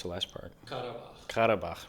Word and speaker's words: Karabakh: How do I pronounce the last part? Karabakh.